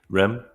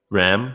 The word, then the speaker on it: Ram: Rem. Ram, should I say? Sorry, I mispronounced your name.